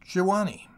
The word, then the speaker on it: Jawani: into the village of jawani which i may as well say at once is pronounced jiwani not that we were